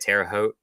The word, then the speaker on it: Terre Haute: this in Terror uh how you say it Terre Haute Terre Haute Terre Haute yeah yeah uh I